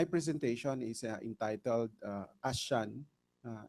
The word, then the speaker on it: ASEAN: uh I'm tempted to use the word asan but uh I think uh to be faithful with uh how it is pronounced by our colleagues uh in Southeast Asia. So I should say ashan ashan in Southeast Asia a cultural region.